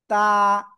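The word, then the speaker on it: ط: দিকে আমার দিকে সবাই জিহ্বার আগা এই যে উপরে এই যে দুই দাঁতের গোড়ায় লাগান লাগিয়ে এক আলিফ টেনে উচ্চারণ করব তা জাস্ট তা তা ঠিক আছে সবাই জোরে জোরে পড়েন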